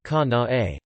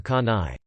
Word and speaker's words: Kanae: I explained that my daughter would like to be called Ka-na-e. But she laughed and said she was pronouncing it the way it's supposed to be, but will try her best to remember. Today, my daughter told me the teacher still calls her Ka-nai.